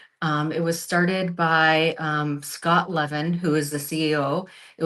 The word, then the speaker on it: Levin: It was started by Scott Levin, who is the CEO. It was started by, and I think they pronounced the name Levine.